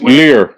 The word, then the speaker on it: livres: Lire. No, so that's francs. Well, spelled L-I-V-R. Yeah, lire. Okay. You don't pronounce the V.